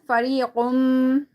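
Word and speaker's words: فريق: وَقَدْ كَانَ فَرِيقٌ. Okay. Now here, qaf, you need to read it thicker.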